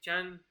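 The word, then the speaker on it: 禅: वो चाइना में जाके चान, जो हम यहाँ पे ध्यान कहते हैं, वहाँ पे चान शब्द का उच्चारण होता है ध्यान का।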